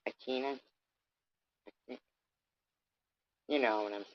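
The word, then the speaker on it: Aquinas: here's where I all right I thought Thomas achina is am I saying it right akina you know what I'm saying right a q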